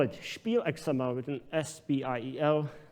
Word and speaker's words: spiel: rendering we call it spiel xml with an s-p-i-e-l with the german pronunciation and surprisingly it's xml